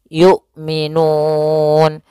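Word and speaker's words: يؤمنون: A I U tidak boleh yu tidak boleh juga y gitu ya tidak boleh dibaca dengan ain tapi dia hamzah yukminun.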